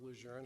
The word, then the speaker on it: Lejeune: I live on the coast between Camp Lejeune, or Lejeune, however you want to pronounce it, and Cherry Point Marine Corps Air Station, and not too far from Seymour Johnson.